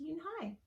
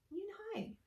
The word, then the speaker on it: Yoonhae: Yes, it's pronounced Yoonhae, and it means grace, Mr. Kim added. Yoonhae, Joey said slowly, and this time perfectly.